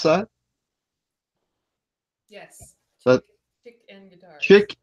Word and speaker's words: ChickNGuitars: Is that how you pronounce that? Yes. That ChickNGuitars. ChickNGuitars.